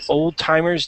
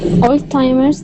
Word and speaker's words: Alzheimer's: read this next one don't say Old Timer's disease okay um cannot say it sorry what it's okay don't say Oldtimer disease um Alzheimer's disease Alzheimer's Disease by the